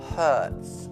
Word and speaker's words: hurts: Poi c'è la frase my, facciamo braccio per adesso, my arm hurts. Ricordando la pronuncia H, come pulire molto forte in inglese, ok?